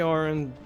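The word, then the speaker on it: Auron: do I do I am familiar I'm familiar a a Ron it's actually pronounced Aaron go to Yuna I've already gone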